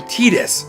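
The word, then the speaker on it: Tidus: games like the CETA they call him Titus even though it's spelt Titus it I call him tight as four years I'm not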